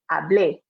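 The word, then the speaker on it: hablé: can hear the difference if there's no accent on that e i will pronounce it so i know it's a little bit subtle but hopefully you can hear the difference and again it's really important when you're speaking that you pronounce it correctly because hable is actually is a totally different conjugation so you might cause some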